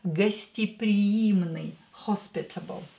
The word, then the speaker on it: гостеприимный: This «е» is not stressed, so we are going to pronounce it as «и». Гостеприимный, hospitable.